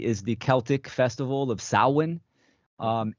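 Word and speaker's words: Samhain: understand is the is the Celtic Festival of saan um s h a i n pronounced sawin um this is a a Gaelic tradition right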